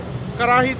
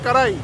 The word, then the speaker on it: karahi: উনি বলতেছে যে ওনারা বলে কারাহি, আর পাঞ্জাবের কিছু মানুষজন বলে কারাই। তো এক একজন এক একভাবে বলে। তো আতিফ ভাই বলতেছে যে লাহোরের মানুষজন কারাহি বলে, তো এই জন্য আমি